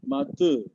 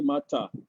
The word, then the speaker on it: mata: I, mater. We don't say mata. Mater. We don't say mata. Bahasa Malay now becomes very soft. Those days, they call Malay baku. They pronounce mata. But now it's mater.